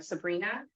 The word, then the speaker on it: Sabrina: actually said it right in the first time Sabrina so my name is yeah it just sounds